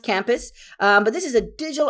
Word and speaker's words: Campu5: I think it's pronounced Campus.